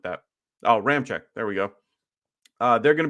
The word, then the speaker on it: Ramczyk: Players out today, the big news guys are Alvin Kamara, Tyron Armstead, and Ryan Ramax. I can never say his name. Ramczyk, something like that. Oh, Ramczyk.